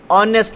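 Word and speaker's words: honest: जैसे आप देखेंगे ऑनेस्ट, ऑनेस्ट में जो स्टार्टिंग वर्ड है वो किस तरह से प्रोनाउंस होता है, जिस तरह से हम ए को प्रोनाउंस करते हैं।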